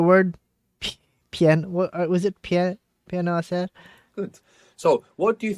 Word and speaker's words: hacer: To do what to make, which begins with a silent H. Hablas. No, that's speak. H. Silent H. Quiero, ¿cómo estás? Hacer.